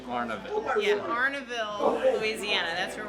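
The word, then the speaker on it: Arnaudville: Arnaville. Arnaville. So no D. It's like Arnold, but no D. I don't really know how to spell it, but I know that it's said Arnaville.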